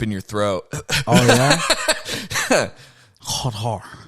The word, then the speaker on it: Qatar: Qatar. No, you go it sounds like a G. It's like Qatar. But you don't say Qatar or Qatar. You say Qatar. Qatar. Like that. That's how you say it.